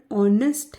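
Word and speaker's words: honest: एन ई एस टी सामान्यतः जिसे नहीं मालूम है कि एच साइलेंट है वो हो सकता है इसे नेस्ट पढ़े पर देखिए नेस्ट इसका गलत उच्चारण है इसका सही उच्चारण ऑनेस्ट है जो कि स्वर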